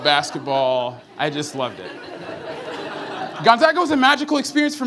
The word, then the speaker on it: Gonzaga: and yes for all you southern folks is pronounced Gonzaga not Gonzaga good yeah so Gonzaga was a magical experience for me I really